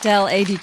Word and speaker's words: Adey: So sitting next to me is Adey. Am I saying it right? Adey Jones. Yes, Adey Jones.